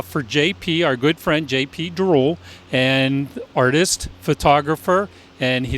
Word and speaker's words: Diroll: This is a life and times of JP Drool.